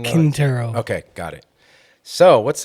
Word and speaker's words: Quintero: Quintero.